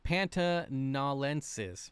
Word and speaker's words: pantanalensis: oh you're talking about the Panthers yeah the panta nalensis pantanalensis there we go I said it right